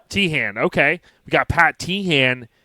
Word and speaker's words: Teahan: And Pat, am I saying it right? It's Teahan? Teahan, yeah. Teahan, okay.